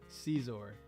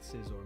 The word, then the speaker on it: Scizor: out of the Pokeball that's how you say it Caesar if that is how he says his name that is how his name is said Scizor it's not scior man Cesar it's definitely Cesar throw him out of